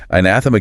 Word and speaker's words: anathema: And if you're struggling with this one, really focus on mastering the stress on that second syllable.